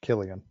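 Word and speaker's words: Cillian: I'm not because it kind of sounds like kill again.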